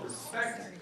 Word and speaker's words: respect: Oh yeah, by the way, just FYI, I pronounce the word respect on the second syllable, respect.